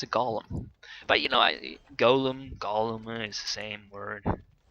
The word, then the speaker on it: golem: a very good technique i always thought that it was pronounced golem but these guys say it like gollum as in like you know stupid fat hobbit that girl lady friends